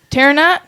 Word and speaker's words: Terranaut: So tonight we are here with, and I hope I'm pronouncing this right, Terranaut?